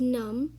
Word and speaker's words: numb: i tell you um you pronounce it as num because the b is silent and num as an